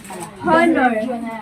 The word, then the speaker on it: honor: Honor.